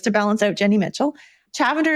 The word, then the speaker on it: Chavender: Chavender is spelled lavender but with a ch at the beginning.